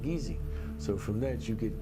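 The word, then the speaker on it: Kissi: Geechee is spelled K-I-S-S-I, but it's pronounced Geechee.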